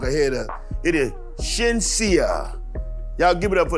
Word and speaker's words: Shenseea: It is Shenseea.